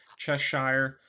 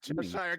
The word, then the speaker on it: Cheshire: not how you pronounce Cheshire cat either. Oh, really? I think it's soft CH, so it's Cheshire.